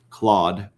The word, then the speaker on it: Claude: Uh right now also I throw this out there if anyone is good with claude or cloud I don't know how it's pronounced the AI Claude um and